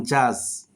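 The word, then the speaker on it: judge: ওকে আমরা এখন শিখবো ডি তো সাধারণত ডি প্লাস জি অথবা যে যদি থাকে সেক্ষেত্রে ডির উচ্চারণ হয় না। যেমন জাজ জাজ মানে বিচারক।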